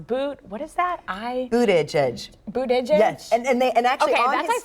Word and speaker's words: Buttigieg: Mayor Pete's last name is pronounced Buttigieg.